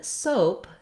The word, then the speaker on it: soap: And then soap has the o diphthong, which in American English is a gliding diphthong vowel. And we do sometimes spell that OA, like in road and soap. But you can see in the dictionary, if I see the symbols for the O, it looks a lot like soup.